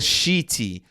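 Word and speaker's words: Sheety: i found that i really like is called shitty it's spelled s-h-e-e-t-y dot c-o and this is one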